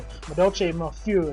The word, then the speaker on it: Madolche Mofiu: So he summons his Madolche Mofiu. I actually learned how to pronounce that because these are obviously French-based names. So Madolche Mofiu, if you wanted to know how to pronounce that.